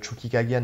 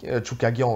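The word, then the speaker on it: Chookagian: Tu sais, je pense à un combat contre Chucky Kagian, là. Tu Ouais. sais. Choukagian. Chukagian, ouais. Je rajoute toujours une syllabe à son nom.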